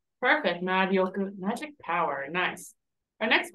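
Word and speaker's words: 魔力: How do you think this word is pronounced? Marioku. Perfect. Marioku.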